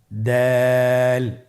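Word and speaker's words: دال: দাল হরফটি বারিক হরফ। এই হরফটি উচ্চারণ করার সময় আমরা অবশ্যই 3 আলিফ টেনে পড়ব।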